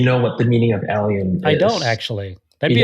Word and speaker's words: Allium: alium hopefully I'm pronouncing that right yeah yeah pronounced alium I I have to Google how to pronounce